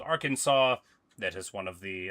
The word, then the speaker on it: Arkansas: Arkansas, the S is silent, but not the first S.